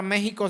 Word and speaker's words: México: con j prójimo verdad como la palabra México se escribe con x y se pronuncia con j tu prójimo también es